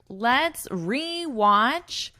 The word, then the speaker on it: rewatch: We pronounce this as a full re, e. It has that long E sound.